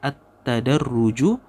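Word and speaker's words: التدرج: masyaallahah kemudianj tasyri attadarruju ini bacanya attadarruju Fit tasrii atadarruj artinya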